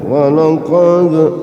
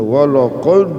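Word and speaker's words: وَلَقَدْ: Sugra ya Qalqalah Sura bacanya enteng saja walaqad waqad engak usah walqad nah itu namanya berat enteng saja namanya Qalqalah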